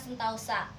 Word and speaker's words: sentosa: Kata anggota diucapkan anggauta, sentosa diucapkan sentausa.